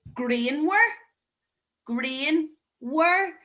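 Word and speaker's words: grianmhar: So sunny is green were, and there's that MHA, wah, green were.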